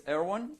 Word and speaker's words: Erwan: In case you struggle to pronounce my name, there is a trick. And the airplane of the United States president, you were saying earlier, the Air Force One, remove the force, this is me, okay?